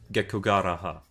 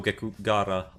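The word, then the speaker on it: Gekkogahara: Wait, did I pronounce that? Miaya Gekugaraha. No, Gekugahara.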